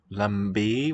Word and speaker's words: लंबे: We could contrast the different A sounds here. Lambe with the higher. लंबे हैं. A more open, also nasalized.